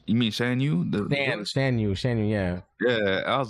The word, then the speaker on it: Shan Yu: Shan Yu, yeah.